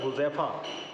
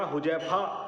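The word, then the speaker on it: हुज़ैफ़ा: है और अरबी का सही लफ्ज है हुजैफा अगर यहां पर यह बिंदी नहीं लगाई जाती तो हुजैफा की जगह हुजैफा बोला जाता ना जिस जिससे ना सिर्फ उसके मायने बदल जाते बल्क उसका उच्चारण भी गलत हो जाता इसी तरीके से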